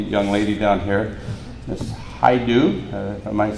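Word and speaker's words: Hajdu: Haidu.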